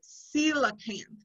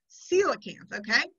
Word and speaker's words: coelacanth: they give us a how to say it coelacanth coelacanth okay became extinct along with dinosaurs 65 million years